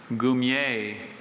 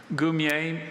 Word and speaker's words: goumier: Goumier. Can I have all the information? Goumier is a member of a unit of native soldiers under French officers in North Africa. Goumier has no alternate pronunciations.